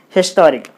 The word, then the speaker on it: historic: So, you put the stress mark on T-O-T-O. Then it will be historic.